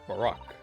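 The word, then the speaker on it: Barok: instead it was uh it was me barack barack that's how you pronounce it okay and i'm not pronouncing any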